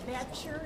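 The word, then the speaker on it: Boettcher: My name is Bechter. It's spelled B-O-E-T-T-C-H-E-R.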